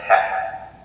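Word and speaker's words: ἕξ: So this there's a little tick up here that you can barely see. That's it's called a rough breathing mark, so it's hex.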